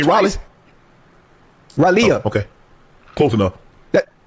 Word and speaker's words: Raleigh: I've been to Raleigh twice. Raleigh. Oh, okay. Close enough. That's how you say it? How you say it again? You for real? But it's spelled R-A-L-E-I-G-H. Raleigh. That's Raleigh. Close enough.